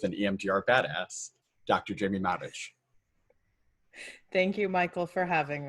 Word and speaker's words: Marich: so i am jamie matic thank you for correctly pronouncing it in croatian although most people know me as jamie marich who follow my work